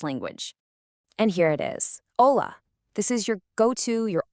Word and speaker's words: hola: In Spanish, the H is always silent. So it's not hola, it's hola.